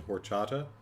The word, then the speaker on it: horchata: paying attention to you the h is silent in horchata it shouldn't be but you're right it probably is i don't think i've